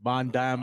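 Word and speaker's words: Van Damme: I saw a jeanclaude vanam movie that's how you pronounce it right jeanclaude jeanclaude vanam or vanam you could say it Von Dam or van vever you want I'll go with Von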